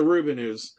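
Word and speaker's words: The Rubinoos: I've all my life I've pronounced them the Rubinos. Rubinos. It's the Rubinos.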